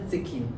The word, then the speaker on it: Zecchin: Leer Pasajeros de Babel de Gigliola Sechin, dígame usted cómo se pronuncia. Gigliola Zekin. Gigliola Zekin exige acordar desde el comienzo una premisa que George Steiner sostuvo a lo largo de su obra crítica.